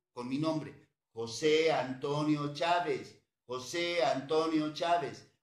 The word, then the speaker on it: Chávez: mi nombre, José Antonio Chávez, José Antonio Chávez, acento en la A, V y Z, eso lleva el apellido Chávez.